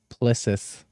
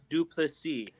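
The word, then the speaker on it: Du Plessis: Strickland, and that's one of the points where Plissis, God, I gotta say his fucking name correctly. How do you say it one more time? Duplessis.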